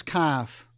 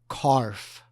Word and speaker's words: CARF: crypto asset reporting framework better known as calf or as our North American colleagues like to pronounce it carf this session gives a